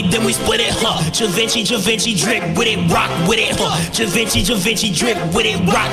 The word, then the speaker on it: Givenchy: And yes, I know it's pronounced Givenchy and not Givenchy, okay?